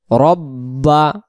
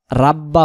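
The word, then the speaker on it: رَبَّ: ফালিয়াবুদু তখন শুধু দাল রব্বা রব্বা রব্বা রাব্বা হবে না রা বললে র জবর রা হয়ে যাচ্ছে এখানে শুদ্ধ উচ্চারণ রব্বা হাজাল বাই হাজাল হা গলা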